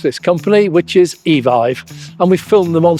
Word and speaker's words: Evive: Well, we do actually now know how to pronounce this company, which is Evive.